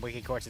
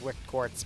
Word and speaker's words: Wicked Quartz: Um, I always say his name wrong. I always call him Wiki Quartz. It's Wicked Quartz, but whatever.